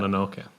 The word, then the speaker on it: Mononoke: I can never pronounce that. Mononoke. Thank you.